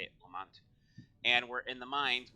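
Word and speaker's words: Lamont: you spell Lamount, that's how you say it, Lamount.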